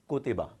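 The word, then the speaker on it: كُتِبَ: So we will pronounce it as, on ka it's dhamma, the equivalent of U, ko. Then ta has kasra zer, the equivalent of I, ti. And ba has fatha, which is the equivalent of a. So ko, ti, ba, kutiba, kutiba.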